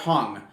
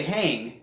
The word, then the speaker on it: Hang: The pan art hung, and most people would say hang because that's how it's written.